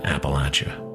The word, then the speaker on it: Appalachia: lifestyle which began in Appalachia. That's how you pronounce it in the south on down the spine from Kentucky down those great eastern mountains. You pronounce it like somebody is throwing an apple at you.